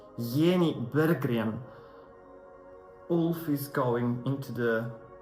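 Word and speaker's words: Jenny Berggren: pronounce her name and it wasn't Jenny beran it was yenny beran wolf is going into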